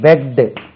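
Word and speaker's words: begged: your part peg பெக்ட் இது டி தான் வச்சுக்கணும் இட் கிடையாது இதுல பெக்ட் பெக்ட் பெக்கிங் அதாவது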